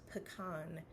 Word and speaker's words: pecan: The correct way to say it is pecan. And I know this because pecan is an Ojibwe word. In Ojibwe, the word bagan is nut. Bagan, pecan.